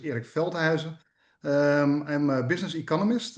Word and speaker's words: Erik Veldhuizen: But my last name was was very good pronounced. Uh my name is Eric Felheiser.